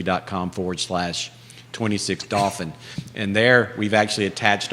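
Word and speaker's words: Dauphin: the home's not finished but dolphin is spelled d-a-u-p-h-i-n not like the porpoise but if if you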